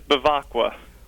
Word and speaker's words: Baka: right now Frank yeah that was pretty close it's Baka Baka yeah oh well my producer